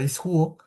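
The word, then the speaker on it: ἰσχύω: Y ya tenemos nuestra palabra original, la raíz de nuestra palabra que era ishuo. Esta es el origen, esto es lo que, así es como se pronuncia y esto es lo que significa.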